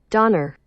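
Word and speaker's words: Döner: I feel like I've heard it pronounced different ways. Donner.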